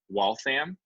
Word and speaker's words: Waltham: It's still today called Watch City, and there it's pronounced Waltham.